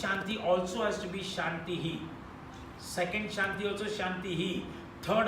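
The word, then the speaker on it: शान्तिः: So you cannot say Shanti, Shanti, Shantihi. That means only the last Shanti you are using that HI. The first Shanti also has to be Shantihi.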